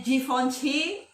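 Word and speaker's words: Givenchy: asing lagi ditelinga kita ada juga kayak givency bacanya jihoon c sama dia ada juga l tulisannya bacanya kayak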